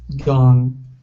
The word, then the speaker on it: gone: you switched it okay so it is an ah sound gone gone okay very good uh